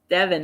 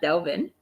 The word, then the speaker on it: Devin: everybody kept correcting you it's Devin not Delvin oh but it's okay